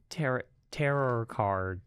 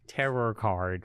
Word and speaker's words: tarot: Tarot card, right? Is it tarot card? Tarot card? Nope. What does it say? Tarot Card. Think of it as T-A-R-O. The T at the end is silent.